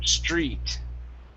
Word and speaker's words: street: instead of Street okay your TR is pronounced like a CHR okay TR equals CH HR this is Street did difficult how uh